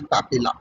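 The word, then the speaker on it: papillae: बोलते हैं सरकम वैलेट पेपला या पपली ओके आप दोनों में से कुछ भी बोल सकते हैं पपला भी और पपली भी लेकिन स्पेलिंग गलत मत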